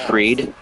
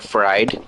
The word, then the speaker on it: Fried: One and0 if you put I think I think Max's last name is pronounced freed, but if you pronounced it like fried and you had him and Ben Rice, you'd have fried rice.